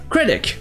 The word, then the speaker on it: critic: Ça se dira en anglais critic, avec la première syllabe accentuée et un C à la fin.